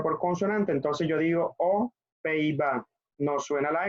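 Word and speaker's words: aux Pays-Bas: Bueno, la pronunciación sería O. Esta X no suena porque esta no comienza por vocal. Entonces sería O Pays-Bas.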